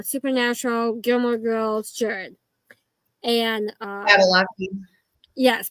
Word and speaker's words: Padalecki: And Padalecki. yes, Padalecki.